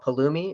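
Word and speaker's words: Pulumi: that's coming about um called palumi it's spelled p-u-l-u-m-i and palumi is a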